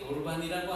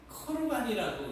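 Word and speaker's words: קרבן: 안 하시는 것은 앞으로도이 거르반이라고 하는 단어를 가지고 또 이제 어 설명을 해도 아 그때도 처음 듣는 것 같은 그런 어 표정을 기울 수도 있을 것 같아요. 코르반이라고 이제 발음을 하는 것이 더 정확한데 예수님께서는이 말을 부모를 공경하지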